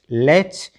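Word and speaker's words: latch: तो टीसीएच में T silent रखना। ठीक है? पी ए टी सी एच पैच एल ए टी सी एच लेच और एस एन ए टी सी एच स्नेच इसका meaning होता है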